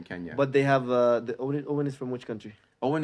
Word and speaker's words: Eoin: It's Eoin. It's Celtic. Owen. Eoin. Owen. That's how you write Owen in Celtic.